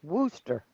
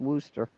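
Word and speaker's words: Worcester: of the prior dishes Jennifer says it's pronounced Wooster I thought Worster had two she yeah but that's what she says it's pronounced woster woer okay so it'll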